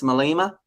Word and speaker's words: Malema: Now, it's just to confirm, the correct pronunciation is Julius Malema? Yeah. Malema. Malema.